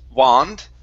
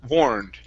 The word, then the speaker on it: warned: Instead of wand, it's war. Warned. Uh, a warmed. Okay. Make sure to pronounce an N sound.